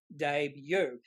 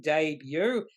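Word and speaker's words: Daybue: a debut website I've announced we know it's pronounced debut because I've mentioned here on this particular web page introducing debut pronounced day with uh the last bit BYO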